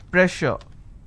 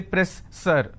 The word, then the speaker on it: pressure: For example, if I have a word which is pressure, just because I have two S, I can't say press sir.